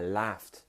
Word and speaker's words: laughed: I laughed. Now that T sound is quite hard to make, I know.